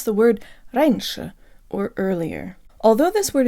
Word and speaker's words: раньше: i'm kyra and today you'll learn how to pronounce the word raineesha or earlier although this word is short it